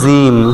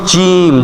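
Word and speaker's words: جيم: সঙ্গে লাগাইয়া ফা ফা তারপরে জিম অনেকে বলে জিম জিম বলে কি দিয়া জিহ্বার আগা দিয়া বলে এখানে হবে জিম জিহ্বার মধ্যখান ঠিক তার উপরে লাগাইতে হবে জিম তারপরে কি আছে হা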